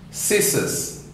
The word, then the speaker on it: scissors: Scissors, S-C-I-S-S-O-R-S, scissors. There, C is deleted.